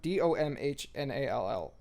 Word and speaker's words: Domhnall: It's Domhnall.